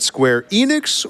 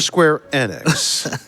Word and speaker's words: Square Enix: Is it Square Enix or Square Annex? It's Enix.